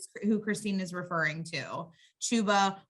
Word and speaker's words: Chuba: christine is referring to chuba rhymes with tuba hubbard um so he's